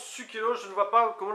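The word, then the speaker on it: Sucellos: Sukelos, maintenant je le prononce Sukelos, je ne vois pas comment le prononcer autrement.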